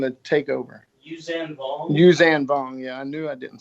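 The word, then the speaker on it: Yuuzhan Vong: Well, Palpatine foresaw the Yuzang Vong. Is that how you say it? What? The people that were coming to take over. Yuzan Vong? Yuzan Vong.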